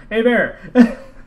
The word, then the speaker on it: Hebert: Hebert.